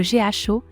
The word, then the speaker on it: GHO: à jour majeur concernant le GO se prononce Go son stable coin sur